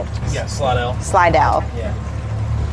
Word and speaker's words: Slidell: Yeah, Slidell.